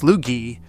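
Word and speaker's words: Sloughi: The Slugy, pronounced Slugy, is one of the rarest real, fully recognized breeds in the entire country.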